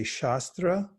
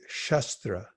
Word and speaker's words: shastra: beyond even psychology and sastra has two pronunciations you can say sastra try that sastra or you can say shastra shastra so they have there's a long a shastra and a short a shastra so when you say